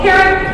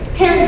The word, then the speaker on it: Pyrrhic: Most people are creating Pyrrhic victory. Say Pyrrhic victory. Say Pyrrhic victory. Allison, how do you spell Pyrrhic? P-Y-R-R-I-C. P-Y-R-R-I-C. It's spelled crazy, and I always forget.